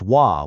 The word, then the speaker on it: は: That little particle wa, and this is key, it's pronounced wa when it's used like this, it points to the topic of the sentence.